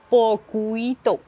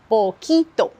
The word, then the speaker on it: poquito: Je ne dis pas poquito. Je dis poquito.